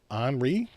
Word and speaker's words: Henri: Turns out, when we spell the name the way we spell it, they pronounce it Anri, which I suspect is the proper way to pronounce the name.